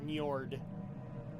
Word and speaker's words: Njord: It's Njord.